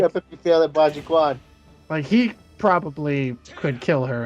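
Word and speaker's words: Bajiquan: What was it pronounced? Baji Kong? Baji-Kwan.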